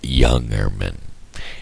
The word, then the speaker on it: Jungermann: for was not on jungermann road the pronunciation of jungermann road is Youngerman it spelt with a J and that throws me